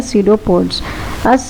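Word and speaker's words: pseudopods: इस सीडोपोडिया में पी को साइलेंट रखिएगा। अच्छा, इसकी प्रोनाउंसिएशन क्या है, सीडोपोड्स।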